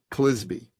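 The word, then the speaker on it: Clizbe: a man named Kent kisby rhymes with frisbee CLI I zbe Kent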